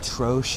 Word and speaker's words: troche: Or we've got a few people that say like troche as well, not troche. That's common. I guess the correct pronunciation, by the way, is troche.